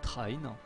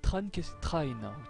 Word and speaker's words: Trine: du jeu Trine alors il y en a qui disent trin mais en fait je crois que ça se dit train c'est comme ça qu'en tout cas que le le mot est prononcé dans le jeu trin qu'est-ce que c'est